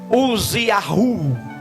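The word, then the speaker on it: עֻזִּיָּהוּ: reinos do Sul e o seu nome na verdade era using Yahoo que era a pronúncia correta do seu nome traduzido e transliterando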